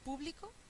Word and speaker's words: público: y tres posibles acentuaciones Esta es público es una esdrújula que lleva tilde publicó es aguda y lleva tilde y esta otra